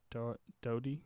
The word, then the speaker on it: Doherty: last name because you Doherty okay when I heard the announcer say his last name he does not pronounce the are dhoti yeah Dody yeah so probably just his accent I don't know -